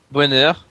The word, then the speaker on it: Boehner: Boehner.